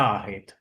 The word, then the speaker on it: आहेत: And though it is written as आहेत, the pronunciation is आहेत. ते त is generally almost cut half.